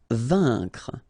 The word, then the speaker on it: vaincre: Vaincre. A-I-N together. Here it's un.